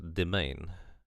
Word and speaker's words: mesne: Pronounce domain. Oh, domain. I always thought you would that's where the word domain comes from, I guess.